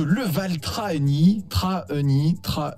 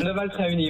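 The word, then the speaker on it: Leval-Trahegnies: qui nous vient de Leval-Trahenny, comme ça qu'on dit. Leval-Trahenny, ouais. Leval-Trahenny. Ça me perturbe ce H entre le A et le E, je savais pas trop. Oui, mais il ne se prononce pas.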